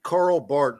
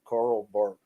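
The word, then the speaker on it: Karl Barth: I say one thing yeah absolutely um it's Carl Bart it's uh it's uh you know his name is spelled b-a-r-t-h but it's like pronounced Carl bark Ethan wanted to make sure that was clarified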